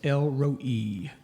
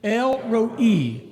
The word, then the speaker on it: El Roi: Maybe you know somebody named Elroy. Or El Roi.